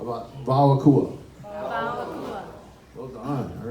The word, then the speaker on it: WAO AKUA: So we pronounce the WV for this one. It can go either way, but if everybody can say WAO. WAO. And AKUA. AKUA. Nice. How about WAO AKUA?